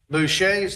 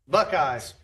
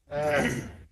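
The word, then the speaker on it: Bucheit's: of Little Rock, and Chrissy corrected my pronunciation. Bouches of Pocahontas. How's that supposed to be? Buckeyes. Buckeyes. is spelled B U C H E I T-S Buckeyes of Pocahontas.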